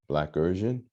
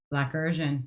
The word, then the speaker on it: Blackersian: and then pronounce it Blackersian. Blackersian, you got it.